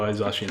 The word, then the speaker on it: Zacian: And Zacian, I know, I like Zacian more, even though Zacian is the right way to say it.